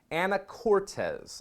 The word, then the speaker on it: Anacortes: The town in Washington is called, I had to look this up, Anacortes, I believe is how it's pronounced. Anacortes, Washington. Anacortes.